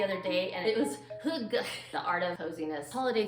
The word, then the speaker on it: Hygge: I'm always going for that Danish word no one knows how to pronounce. I looked it up the other day, and it was Hygge, the art of coziness.